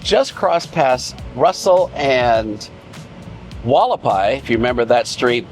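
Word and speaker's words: Hualapai: So we've just crossed past Russell and Wallapai. If you remember that street, Wallapai starts with an H, and it's one of those Indian words.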